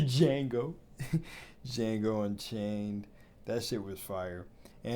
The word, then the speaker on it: Django: recently it's like the Django and chain or Django and chain I said I pronounced the D but it's like the Django Django Unchained that [